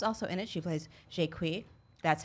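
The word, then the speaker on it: Jaques: so Shanna Tufts also in it she plays shake wheat that's how you pronounce it look it up and I'm a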